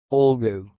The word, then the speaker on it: olgu: sounds like ol boo all new and again all go all go that's all thanks for listening if